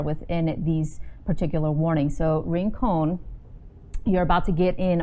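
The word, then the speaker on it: Rincon: lot of activity on here um ranone is pronounced ring cone okay thank you for clarifying and if you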